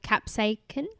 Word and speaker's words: capsaicin: That burning sensation is mainly caused by a chemical called capsaicin. Capsicum. Well, it's not spelled like capsicum. Oh. So I don't know. But it looks a bit like it. It's CAPSAICIN. Capsaicin.